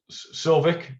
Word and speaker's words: Sauvik: Sovik, apologize if I'm pronouncing your name wrong. No, that's fine. That's correct.